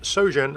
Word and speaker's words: Sojourn: Well, with a catchphrase of chase the truth, we know that with this voicemail from Sojourne, or indeed Sojourne as it's pronounced, we don't know who this person is, but we can speculate their role later.